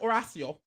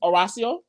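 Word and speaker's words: Horacio: so Johnny and Horatio oracio I say his name I just don't want to I can't say all right it's oracio it's oracio aracia oracio Gutierrez let me try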